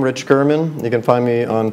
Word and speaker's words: German: media and just pull up my name rich Gurman you can find me on Facebook and Instagram